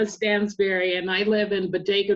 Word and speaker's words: Stansberry: It's often mispronounced as strawberry because it looks like strawberry, but it's Stansberry, and I live in